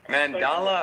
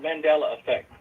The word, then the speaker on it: Mandela: Mandala or Mandela? Mandala? Mandela effect. Mandela effect.